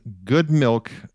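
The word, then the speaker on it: Good Mylk: for the audience listening good milk um is spelled g o d m y l k so just so people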